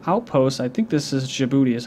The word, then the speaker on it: Djibouti: I think this is Djibouti is how you pronounce it, a tiny impoverished nation just north of Somalia.